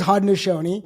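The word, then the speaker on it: Haudenosaunee: all right it's it is Hodnosi which took me about 20 minutes to learn how to say correctly can I tell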